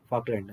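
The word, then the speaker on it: Falkland: ಏನಿದೆ ಫಾಕ್ಲ್ಯಾಂಡ್ ದ್ವೀಪ okay ಫಾಕ್ಲ್ಯಾಂಡ್ ಅಂತ ಹೇಳಿ ಉಚ್ಚಾರಣೆ ಮಾಡಬೇಕು ಅದನ್ನ ಓಕೆ ಈ ದ್ವೀಪ ಏನಿದೆ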